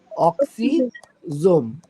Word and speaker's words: অক্সিজোম: অক্সিজোম, not oxygen, অক্সিজোম।